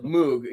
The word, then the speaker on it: Moog: We always said Moog. He went to the factory and they pronounced it Moog.